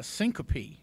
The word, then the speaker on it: syncope: Medically, I think it's called syncope, I believe is how it's pronounced.